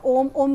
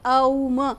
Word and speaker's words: ओम: ओम का उच्चारण ओम ओम के हिसाब से नहीं, अ उ म के हिसाब से जब आप उच्चारित करते हैं तो उसका जो